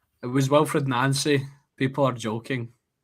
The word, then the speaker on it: Nancy: You were pronouncing it absolutely correctly. Who was it? It was Wilfred Nancy.